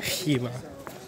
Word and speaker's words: Khiva: made it to Khiva, apparently that's how it's pronounced, Khiva, not Khiva, as I said earlier in the airport.